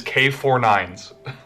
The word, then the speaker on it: K-9999: There's a character whose name is K-9999. And the way you pronounce that is K49s.